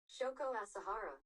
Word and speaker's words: Shoko Asahara: Shoko Asahara. And I pronounced it right.